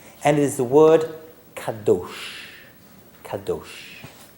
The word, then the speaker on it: kadosh: And it is the word kadosh. Kadosh. Right? I guess in English you can spell it K-A-D-O-S-H.